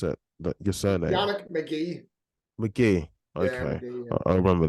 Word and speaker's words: Magee: Ah, how do you pronounce it? Your surname? Yannick Magee. Magee.